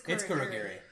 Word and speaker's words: Kurogiri: It's Kurogiri. So I don't hear that vowel in there at all. Here's a trick. Watch it dubbed. Oh, that's fair. But Kurogiri is just like, I mean, I guess we can leave.